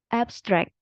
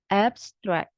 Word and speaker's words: abstract: Kalau yang noun itu penekanannya ada di suku kata yang pertama, abstract gitu. Kalau yang verb itu penekanannya ada di suku kata kedua, abstract.